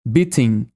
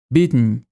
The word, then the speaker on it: beaten: Esse é o glottal T, que é quando a letra T vem antes do som de Em vez de falar o som da letra T mesmo, beating, beating, nós direcionamos para o nariz. Beaten, beaten. Pois é, em inglês tem